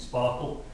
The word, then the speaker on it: Spark SQL: I think they were hoping people would pronounce it Sparkle, and run SQL like queries on your data.